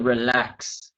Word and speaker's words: relax: And Chung, also just the relax, okay, to pronounce the X on the end of the relax.